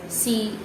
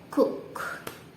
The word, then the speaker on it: cough: one more time anyway for the word c-o-u-g-h it is cough instead of cook okay one more time